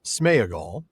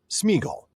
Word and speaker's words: Sméagol: Tolken didn't pronounce it smeagall, even though that's apparently the proper old English pronunciation of it. If you listen to any of Professor Tolken's recordings in the JRR Tolken audio collection, wink wink, which you should, I make that really clear, you can hear him very clearly say Smeaggel.